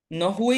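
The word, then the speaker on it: nohui: Por ejemplo, ahí la Nowi de H, la H de Nowi se pronuncia. Xitlahuilhui. La Nowi, Ilumina. Nowi, No hui. pero No no, hui. se pronuncia la H.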